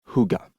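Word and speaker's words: hygge: De fait, ils venaient de redécorer leurs trois pièces en version Huga, prononcé Huga à la danoise.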